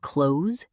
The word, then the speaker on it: close: The S sound at the end of close should be a Z, a voiced sound, not an unvoiced S.